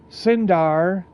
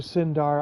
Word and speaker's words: Cyndar: I I like the letters c y n for sin. So, I I do Cyndar.